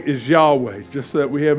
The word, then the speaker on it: Yahweh: When you say it correctly, your jaw literally does not move and your lips do not move.